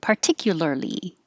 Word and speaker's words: particularly: We have a lot of words, and the first one is particularly. Particularly. Particularly. It's a lot of lurly, L's and R's.